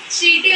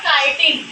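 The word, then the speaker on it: chitin: या फिर चाइटिन नहीं, ये चाइटिन है, इसका प्रोनाउंसिएशन होगा काइटिन। कुछ लोग इसको समझ रहे होंगे कि चीटिन, लेकिन नहीं है, चीटिन नहीं है, काइटिन इसको बोलते हैं।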